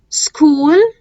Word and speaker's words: school: اشهر الكلمات اللي حرف السي اتش فيها بتبقى كي، وهسيب لكم هنا بصوا في لينك كده جايبهم كلهم حرف الكي.